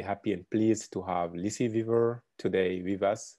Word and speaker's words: Lucie Viver: We are very happy and pleased to have Lucie Viver today with us. Lucie Viver, as she told me, is the right pronunciation.